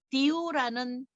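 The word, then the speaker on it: 屌: 그리고 광동어에서 가장 큰 매일 쓰는 욕은 뭐냐면 디우라는 욕을 합니다. 디우. 근데 제 발음이 되게 좋은 발음이에요.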